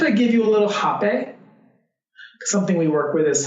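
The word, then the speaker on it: rapé: I said, do you mind if I give you a little hape? Something we work with is something called hape, spelled with an R-A-P-E with an accent.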